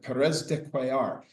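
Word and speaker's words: Pérez de Cuéllar: knew that she spoke some Spanish how to pronounce the secretary general from Peru. And she said Perez de quar.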